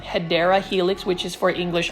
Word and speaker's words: Hedera: certain plants like the hedra helix and for those that are new to my channel I actually mispronounced the word um hedera Helix which is for